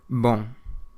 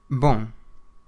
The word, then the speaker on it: bom: Bom. Bom. It means good. Bom. You don't pronounce the M on the end of the word, but it does make what's called a nasal sound, so bom.